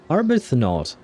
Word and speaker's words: Arbuthnot: Arbuthnot. Okay, so it doesn't have some kind of strange pronunciation. It is pronounced as it is written, but it's, yeah, never mind.